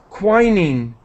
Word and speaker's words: quinine: come up with an artificial yeah this is quinine quinin instead of a malaria treatment his experiments